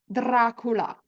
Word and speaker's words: Dracula: So now that you know how to pronounce the letter R in Italian, let's replace the letter L in the lacula with the letter R and say Dracula in Italian. Dracula.